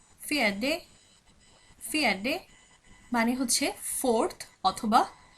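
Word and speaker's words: fjärde: ফিয়াডে ফিয়াডে ফিয়াডে মানে হচ্ছে ফোর্থ অথবা চতুর্থ চতুর্থ। ফিয়াডে অথবা ফিয়াডেও বলা হতে পারে, কারণ আমরা দেখেছি সুইডিশে ডিয়া এটার উচ্চারণ দিয়াও হয়ে থাকে অথবা ডিয়াও বলা হয়ে থাকে।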